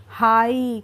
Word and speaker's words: high: अब है हमारा HIGH, तो इसमें भी GH साइलेंट है, ठीक है। तो HIGH को हम फिर क्या पढ़ेंगे? जब हम GH का प्रोनाउंसिएशन नहीं करेंगे तो क्या बोलेंगे? हाई।